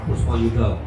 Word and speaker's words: Puspoyudo: Ejaan lama, Puspoyudo. Tapi dibacanya gampang, Puspoyudo.